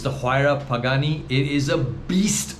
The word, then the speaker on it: Huayra: it's a couple of very interesting name it's pronounced huayra it's the huayra pagani it is a beast of a car